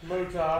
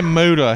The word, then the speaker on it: Muta: Muta. Okay. This motherfucker hits you with Muta. He didn't even say Muta. He said Muta.